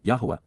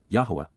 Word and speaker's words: Yahowah: For how long, Adma, until when will the eternal witness and restoring testimony of Yahwa, Yahwa, the proper pronunciation of the name of Aloah, God, as directed in